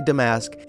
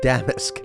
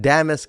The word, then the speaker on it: damask: how you say it I know a lot of people want to say damask it's damis trust me I listen to lots of other people saying it damis it is and as